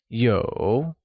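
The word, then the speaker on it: 有: to have to have translates to yo and is pronounced with a falling rising tone let's hear you say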